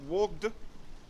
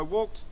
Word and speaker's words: walked: IDI is pronounced - it's like a t2 for example what not walk ad not woged what I walked to the shop okay helped also ends